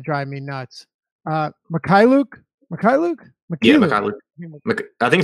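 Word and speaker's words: Mykhailiuk: Yeah, Mikhailuk. I think it's Mikhailuk. I think you're right. It is. It's got to be HAI Mikhailuk.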